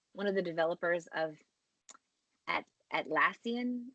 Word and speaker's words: Atlassian: I watched a TED Talk from the guy, one of the developers of Atlassian. Is that how you say it? It's like Australian.